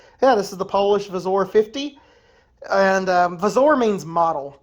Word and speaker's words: wzór: But anyways, yeah, this is the Polish Vazor 50. And wzór means model in Polish. A lot of syllable, like fucking words get pronounced as V's in Polish.